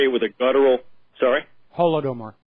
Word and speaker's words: Holodomor: Holodomor, I believe, is the pronunciation. Yeah, I think you say it with like a guttural R if you're from the region.